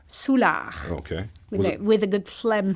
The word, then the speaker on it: Soulard: Soulard, Soulard.